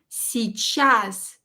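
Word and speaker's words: сейчас: much see chas and here e short is barely pronounced si chas you can barely hear it si chas si chas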